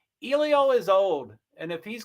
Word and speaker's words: Elio: But it's Elio is the way to pronounce it.